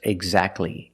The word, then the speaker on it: exactly: And when you see T between consonants, it's silent. Don't pronounce the T. If you link the sounds, do not pronounce the T. Examples, exactly and Christmas.